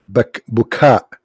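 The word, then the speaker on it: Baca: Bakka here is Bukha. It's not Bakka.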